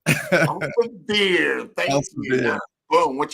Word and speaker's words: Elsevier: How do you pronounce that? Elsevier. Elsevier.